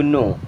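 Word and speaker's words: know: हाउ डू यू नो। How means कैसे, डू you means आप, नो means जानते हैं। यहाँ पे के साइलेंट होता है। ठीक है, इसे नो पढ़ते हैं।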